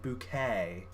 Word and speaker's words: Bucket: would do for example her surname was bucket b-u-c-k-e-t but she pronounced it bouquet to kind of give